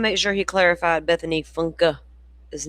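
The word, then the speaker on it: Funke: During an interview, she corrects the interviewer and says, "My name isn't Bethany Funk, it's Bethany Funka."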